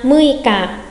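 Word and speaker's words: 六日: Mùng 6 đọc là gì nhanh ạ? 6 là muika, muika.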